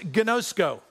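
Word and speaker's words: γινώσκω: And the word is pronounced gnosko. And this Greek word gnosko simply means this, to know God by experience.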